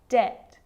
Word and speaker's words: debt: subtle debt and doubt so see in all of those examples my lips aren't closing and coming together to form the b sound i'm just pronouncing the t subtle debt and doubt now the letter c